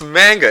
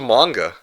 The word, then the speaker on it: manga: H Are you just here to to to criticize every uh mispronunciation? If you guys keep Okay, manga. Okay, it's manga, isn't it?